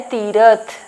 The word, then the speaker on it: तीर्थ: तीर्थ का हो जाता है तीरथ, ठीक है। देखो प्रोनाउंसिएशन में भी डिफरेंस है, तीर्थ यहाँ पे प्रोनाउंस करते हैं क्योंकि उड़नतुआ है तो इसे जल्दी हम पढ़ते हैं, और यहाँ पे